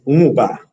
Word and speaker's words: Nwuba: him hello good afternoon did i get your name right it's umba but you did very well yes that is a